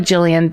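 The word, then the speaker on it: Gillian: Jillian, in parentheses, it's Just said like Jillian, but spelled with a G.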